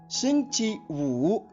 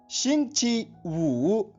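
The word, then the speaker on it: 星期五: Day number 5, इसकी spelling सुनिए, XINGQIW। एक बार फिर सुनिए, XINGQIWU। और इसका ध्वनिवादन सुनिए, शिंगची वू, शिंगची वू, शिंगची वू।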